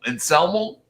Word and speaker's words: Anselmo: Who calls him Elmo? Anselmo? That's how you pronounce it.